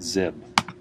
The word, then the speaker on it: xib: one ending with the extension xib I'll pronounce it zib you go ahead and